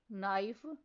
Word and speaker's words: knife: Next silent letter is K. For example, knife, no, knee, knob, nick, note.